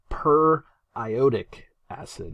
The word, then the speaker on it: periodic acid: comes in play um it looks like periodic acid but it's per ioic acid okay so periodic acid periotic acid I would